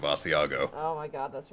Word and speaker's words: Asiago: bagle it was for when you said asago instead of Asiago oh my God that's